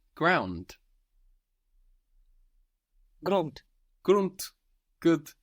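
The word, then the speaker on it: Grund: do you think you might say ground grun grunt good g r u n d and that D pronounce I could T grun round run run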